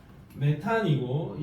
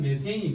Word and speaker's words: 메테인: 독일식으로 읽으면 메탄이고 영어식으로 읽으면 메테인이 되는 겁니다.